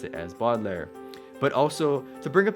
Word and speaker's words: Baudelaire: hope that this sort of explains why I pronounced it as boggler and I really appreciate that comment by the